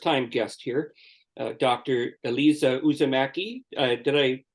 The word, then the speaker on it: Uusimäki: a a First Time guest here Dr Elisa uzamaki did I pronounce that correctly yes s perect who hails